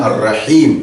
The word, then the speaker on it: Ar-Rahim: Meu irmão, minha irmã, aqui, nestes dois nomes, Ar-Rahman, Ar-Rahim, tal como você pode notar na pronúncia, Ar-Rahman, Ar-Rahim, são duas palavras com significados diferentes, mas com a mesma raiz.